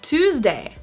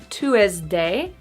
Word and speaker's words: Tuesday: So again, so much stress on the first syllable that the next syllable kind of disappears. So it's not chocolat, it's chocolate. Chocolate. 12, Tuesday. Not Tuesday, but Tuesday.